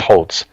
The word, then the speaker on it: Holz: about my name is it's German, so the HOLZ part is pronounced Holtz.